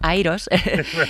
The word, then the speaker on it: IROS: Eh, en el 2018 organizamos en la Universidad Carlos Iero de Madrid una conferencia que se llama Iros. Eh, bueno, en inglés la la pronunciamos como Airos, Airos 2018.